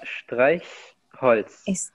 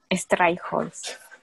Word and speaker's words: Streichholz: ¿Podría repetir la pronunciación de este Holz? Sí. ¿Cómo es? Das ist ein Streichholz. Streichholz. Sí, correcto. Streichholz.